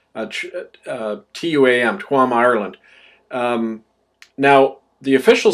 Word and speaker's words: Tuam: It's pronounced Chom, actually, in Irish. Tuam, Tuam, Ireland.